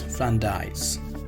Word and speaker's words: Friandises: The pronunciation of this is Friandises, the French word for a delicacy when referring to pastries or sweetmeats.